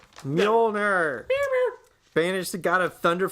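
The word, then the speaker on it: Mjölnir: Revealing that Hela managed to destroy Mohinder. Mjolnir. Mjolnir. Or if you don't know how to pronounce it, do it like Kat Denning did in Thor. Mjolnir.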